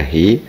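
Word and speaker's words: هُ: Jadi dhamir muttasil hu dibaca hi, huma dibaca hima bila sebelumnya harokat kasroh, atau bila sebelumnya kasroh atau ya sukun yang digabung menjadi satu.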